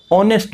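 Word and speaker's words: honest: ऑनेस्ट मैन, H silent है, ओ का उच्चारण हो रहा है, ऑनेस्ट मैन, इसलिए यहाँ पे भी एन ऑनेस्ट मैन।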